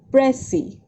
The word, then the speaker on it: précis: and unnecessary in the writing, and it is pronounced as précis, right, girls?